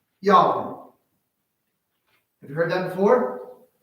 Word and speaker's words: Yahweh: you have me lost you say his name is Yahweh you just remember I took a deep breath that I said his